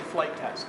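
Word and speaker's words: Flite Test: Just go on YouTube, type in flight test. It's spelled funny. It's F-L-I-T-E test, all one word.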